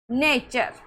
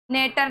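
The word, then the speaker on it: nature: जैसे इनश्योर जैसे नेचर अब इसको नेटर नेटर नहीं पढ़ना है। कई बच्चे तो इसको क्या पढ़ लेते हैं? नेटर। तो इस टी को यहां पर च पढ़ रहे हैं।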